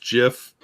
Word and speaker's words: GIF: good no give no the Creator says it's pronounced jiff I say I say